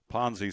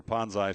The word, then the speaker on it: Ponzi: investor money to themselves the Hallmarks of a Ponzi scheme or ponai scheme I heard to pronounce both ways Allen a first round